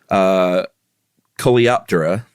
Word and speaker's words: Coleoptera: I'm going to say the order Coleoptera. I think you just nailed it, Chuck. You just won the pronunciation party.